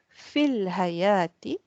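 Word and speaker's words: في الحياة: When you choose to say fil hayati, the alif is not pronounced.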